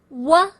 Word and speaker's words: wo: Wa. It's the same as UO, wa, or O. Remember, O is just like O in oil.